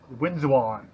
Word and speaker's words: Winzwon: Winzwon. That's how I'm pronouncing it.